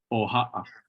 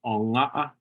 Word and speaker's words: oha'a: So for baby, it's with the O, oha'a, oha'a. Okay, oha. Yeah, oha'a. Yep. Ja, sumai oha'a yate wana. Or another pronunciation of baby was onga'a, sumai onga'a yate wana. Both of those are absolutely correct.